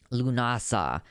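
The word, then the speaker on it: Lughnasadh: whatever lunasa so that's how you actually pronounce it so it uh that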